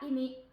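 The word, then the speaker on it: 意味: 자, 의미라고 하면은 발음을 이미라고 합니다. 이미.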